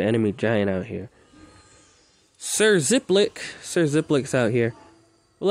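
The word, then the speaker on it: Xiplik: shall name him sir ziplik zip spelled with an x so x i ep x i p lick ziplic there we go we're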